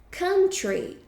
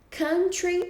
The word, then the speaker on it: country: aquela empresa vende livros country country é país agora muita gente costuma pronunciar esse U né então como fosse um e a gente não pronuncia dessa forma a gente fala ok